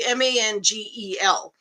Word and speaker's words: mangel: 1-2 had asked it, was it mangle or mangal? It's actually MANGEL, red mangle beets.